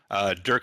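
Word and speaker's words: Dyrk: It's spelled D-Y-R-K, but it's not like people are going to spell it, so Dirk Van Gant.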